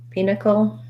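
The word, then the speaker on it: pinochle: so the card game pinnacle um i would think about it like p knuckle but first syllable stress pinnacle um so and the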